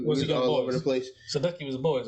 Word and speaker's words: Sandusky: Sandusky? Columbus. Yes. Like Jerry Sandusky? Chill. It's pronounced the same way.